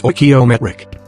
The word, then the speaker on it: stoichiometric: the scientist calls this chemically correct combination a stoichiometric mixture pronounced stoichiometric with this mixture given sufficient time and turbulence